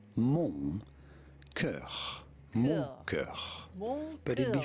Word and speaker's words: mon cœur: In French, in France, we would say it as mon cœur, mon cœur.